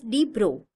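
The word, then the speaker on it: de Broglie: the French physicist Louisis Victor Drogley pronounced as D bro in 1892 to 1987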